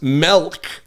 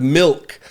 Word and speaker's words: milk: the word measure incorrectly I said measure I mispronounced milk I said mil instead of milk all of these I tried to weed out